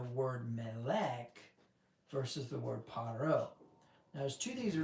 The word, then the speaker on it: Pharaoh: I've I've researched the the title parro before and that's how it's pronounced parro. It's not Pharaoh.